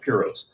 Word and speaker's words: Piros: And by the way, it's pronounced Piros.